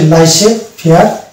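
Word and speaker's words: laissez-faire: এই French word দুটিতে জেড মানে সাইলেন্ট থাকছে। অর্থাৎ এগুলো হচ্ছে লাইসে ফেয়ার এবং রেন্ডে ভাস। রেন্ডেজ ভাস, নট রেন্ডেজ vase, it ইজ রেন্ডে vase.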